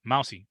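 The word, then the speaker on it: Mausi: other linebacker Dorian mousey that's right mousy but not spelled like a mouse it's m-a-u-s-i Mouse C 22 tackles not all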